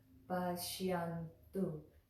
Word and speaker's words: paśyantu: So it's Paśyantu. When you put it all together, Paśyantu. And that tu again is the on the back of the teeth. Paśyantu.